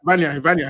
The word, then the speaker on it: Vanja: Yeah, Vanya Milinkovic Savage, the Vanya guy. Vanya. His name is Vanya. Yeah. How to spell that?